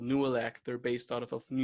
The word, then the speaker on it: Nooelec: Yeah, they Nuelec actually, is spelled Nooelec.